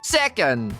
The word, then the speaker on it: second: vamos relembrar como dizer second. Vamos começar dizendo sé como na palavra sétimo. E por último, a gente diz c. Vocês acabaram de falar second.